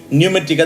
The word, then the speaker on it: pneumatika: पहला है न्यूमेटिका, या फिर उसका स्पेलिंग है PNEUMATIKA, न्यूमेटिका। That P is silent.